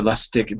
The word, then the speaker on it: Lustig: Victor Lustig being arrested on the right, on the bottom.